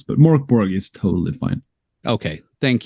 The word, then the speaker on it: Mörk Borg: It's you can pronounce it in a lot of different ways. Right. So we've learned the last couple of years. But in Swedish, I think it's intended to sound Mörk Borg.